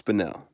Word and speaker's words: Spinel: a grip but yeah I have mispronounced spinel so much it's aggravating to edit this I said Edison here it's spinel know that I know okay